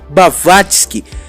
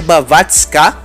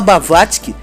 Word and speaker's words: Blavatsky: Inclusive tem gente que fala que é Blavatská, eu já vi isso também. Só que eu vou falar Blavatsky, e primeiro porque eu escrevi como se pronuncia, então com certeza tá escrito errado o nome dessa mulher aqui. Mas é Blavatsky, e ela era russa,